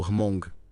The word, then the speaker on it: Hmong: eles são chamados de Hamong. Tipo Hmong. É meio difícil de pronunciar, mas tem um H mudo na frente, ou quase mudo.